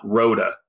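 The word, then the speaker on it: Rhoda: of the mountain is it's actually called Mount Roda it's in the San Juan Mountains and rota is spelled Rho da okay I know where that's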